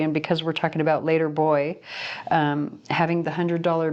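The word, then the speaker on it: l8r boi: to read the name it's later boy and it's spelled l8 the number eight r so later boy b-o-i l-8-r-b-o-i if you want to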